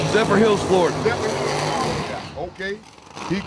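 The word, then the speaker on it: Zephyrhills: Hamilton, Michigan going up against my man Big Little Country Justice Swans out of I can't pronounce Zer Hills. Zephr Hills, Florida.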